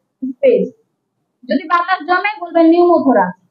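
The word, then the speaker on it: pneumothorax: হ্যাঁ, নিউমোথোরাক্স, নিউমো কি উচ্চারণ হবে না, নিউমোথোরাক্স। ঠিক আছে, আর হেমো মানে রক্ত।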